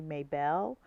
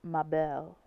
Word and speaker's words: Mabel: mispronouncing her name um I see as an American I see mayel but it's Mel uh let's see from